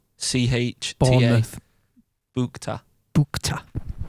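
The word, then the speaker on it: Bouchta: Madison Botcha. Right. Oh yeah, Madison Bukta. I would pronounce that. I'd say Botcha. Spell it. It's boo. It's B-O-U. B-O-U. Yeah. You'd say boo, wouldn't you? C-H-T-A. Bournemouth. Bukta. Bukta.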